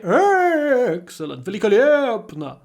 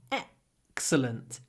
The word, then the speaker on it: excellent: emotional word excellent but I don't say excellent it's still a little clipped vowel excellent excellent with a big gap excellent excellent it was